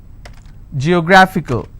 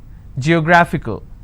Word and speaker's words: geographical: ICAL. Geographical. How many syllables do I have? Geographical. Now this fickle is coming up to 2 syllables, right? But this will still be combined as word ending, and this is the stress. Geographical.